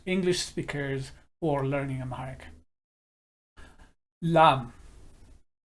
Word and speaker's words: ላም: Lam. In Amharic, it means cow, and lamb in English, it is a totally different word, and we are taking here the homophone, or the fact that they are pronounced similar or same way, lamb and lamb, but cow and attack,